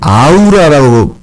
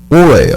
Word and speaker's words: aura: as는 한국에서 한국 사람들이 아우라고 발음을 하는데 아우라 아닙니다 이거 오라예요.